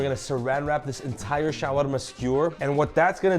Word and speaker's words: shawarma: Shawarma, not shawarma, you say it different.